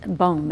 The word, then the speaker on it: Boom: You know, the reason I brought up the Corrie ten Boom is Boom, yeah, it's the way it's pronounced.